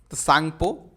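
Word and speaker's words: Tsangpo: Indus सांगपो टी जो है टी टी एस से इसमें टी साइलेंट होता है इसीलिए आप कंफ्यूज मत होइएगा इंडस सांगपो इस तरह से सांग पो इस तरह लिखा जाता है तो टी जो यहां है देखिए वो साइलेंट है तो इसलिए इसका पूरा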